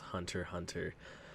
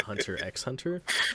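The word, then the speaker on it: Hunter × Hunter: i have heard that it is actually pronounced hunter hunter and i have also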